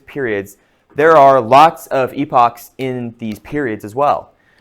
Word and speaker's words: epoch: I I I usually pronounce it epochs because if I say epic, people think I mean epic.